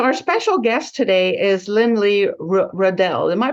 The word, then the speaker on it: Lynlea Rudell: a difference so our special guest today is Lynn Lee Riddell am I pronouncing that right yeah she's a director of